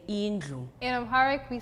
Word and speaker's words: indlu: It's INDLU.